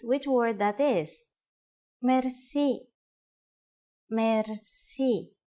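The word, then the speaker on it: мерси: will be amazed which word that is merci merci merci is a lone word from french but it is pronounced with the typical bulgarian heart are it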